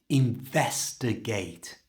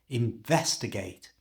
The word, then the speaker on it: investigate: To say this naturally, you need to stress vest. To do this, just pronounce it really clearly. Investigate.